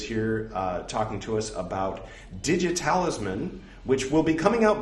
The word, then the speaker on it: DigiTalisman: DigiTalisman, it's spelled like it sounds. Digit, talisman, overlap the T's, turn the 2 T's into 1 T.